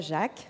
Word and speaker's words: Jacques: The speaker is Jacques, so pronounced in the French way. That is apparently the right pronunciation.